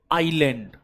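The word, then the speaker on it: island: पर दप यानी आईलैंड आइलैंड S silent है आई एस एल ए एन डी एस अंग्रेजी होता है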